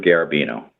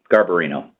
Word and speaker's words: Garbarino: 2 part Republican first first candidate is Andrew garbino oh Garbarino my apologies for mispronunciations of any names no worries the first